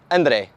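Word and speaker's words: André: translating my name so it's pronounced Andre to my fellow foreign followers so behind me I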